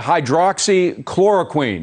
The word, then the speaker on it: hydroxychloroquine: I hope you were going to pronounce it, but I'll try. Hydroxychloroquine, is that right?